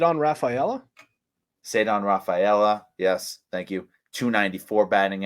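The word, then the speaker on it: Ceddanne Rafaela: uh the prospect whose name I can never remember how to pronounce that you love said on raphaela said on Rafaela yes thank you 294 batting average she's been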